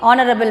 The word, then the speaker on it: honorable: an honest man okay honorable man an honorable person honorable so h is not pronounced so h is silent you start with this